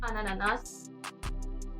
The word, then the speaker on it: ananas: pineapple in French so again here you see the liaison effect which basically joins the two words and makes it ananas next we have our